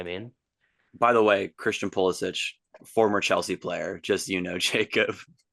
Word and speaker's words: Pulisic: And then one of the refs didn't even shake like Pulisic.